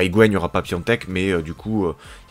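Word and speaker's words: Piątek: Et l'AC Milan, pour son attaque, a acheté du coup l'attaquant du Genoa, qui s'écrit Piatek, mais que je crois se dit Piontek, voilà, qui a beaucoup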